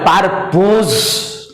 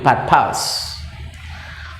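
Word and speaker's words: purpose: এখানে একটা কথা বলছি, এই যে পারপাস উচ্চারণ PURPOS, সুতরাং অনেকেই মনে হয় পারপোজ। Develop students, it will be wrong, ভুল হবে, ভুল। The pronunciation of it will be পারপাস।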